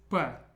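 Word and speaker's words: П: Okay, the next one is P. P. P as in the English P sound, as in pet. The way I remember this one is it looks just like the Greek pi symbol, and everyone knows pi.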